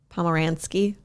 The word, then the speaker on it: Pomeranski: It's Andrea Pomeranski. Yeah, I know that. Okay. That's a type of dog. Pomeransky. Yeah, Pomeranian ski.